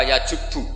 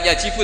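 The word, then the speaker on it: يجب: Itu bacanya bukan yajibu tapi apa? Yajubu ayaktau.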